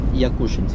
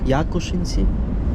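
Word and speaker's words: Якушинці: Якушенці? Да, Якушенці. Якуш? А просто дядька Славік місцевий і за неправильне наголоси може бути цей зле. Зле треба казати якшинці. Да. В нас в Хмельницькому кажуть якушенці.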